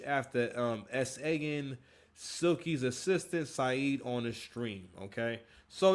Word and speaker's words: Said: So, I believe his name is Say or Yeah. So, it's spelled like said, but his name is Say.